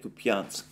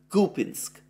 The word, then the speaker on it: Kupiansk: kupiansk or at least I've been calling it to pianzk up to this point I understand that the correct pronunciation for the name for the name of this drown is coping kupinsk you call pinsk well there we go the